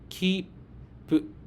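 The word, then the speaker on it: きっぷ: The sound of the chisai tsu is silent, but it takes one beat, just like long vowels. To pronounce it correctly, try clapping your hands to count the beats. Say it slowly and with rhythm. Kippu. While pausing, your mouth gets ready for the second sound.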